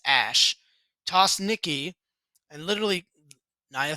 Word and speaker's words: Ash: basically tossed nikki ash which is how they pronounce it i hate it it's ash tossed nicki and literally